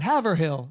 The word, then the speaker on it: Haverhill: Mayer had his first movie theater in Haverhill.